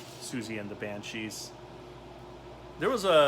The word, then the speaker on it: Siouxsie: I mean, it's pronounced Siouxsie, apparently, but I was like, Siouxsie and the Banshees, and all my friends thought I was an idiot for calling him that. And I said, no, you're an idiot, because there's an X in there, and you always pronounce X and S together.